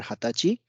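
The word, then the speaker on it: 二十歳: for 20 years old so PSI will not be added after Hatachi and nor it is nijusai it's just means 20 years old means I am 20 years old so there will not be PSI added for 20 years old so here we have mentioned this one nijusai it's not correct it's then we have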